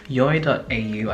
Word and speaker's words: Yoi: So it's going to be from Yoi.au, I believe that's how you pronounce the brand.